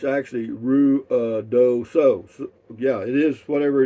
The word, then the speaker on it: Ruidoso: In Lubbock, my friends used to pronounce Ruidoso as Ruidioso. Yeah, but it's actually Ruidoso.